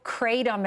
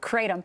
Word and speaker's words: kratom: Siegel, Kratom is how you pronounce it, Kratom.